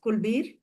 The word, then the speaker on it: Kulveer: What I feel is Kulbir, am I pronouncing your name correctly? Yes, Kulbir.